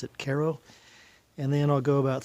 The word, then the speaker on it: Cairo: of Cairo it's spelled like Cairo but they pronounce it Cairo and then I'll go about three miles beyond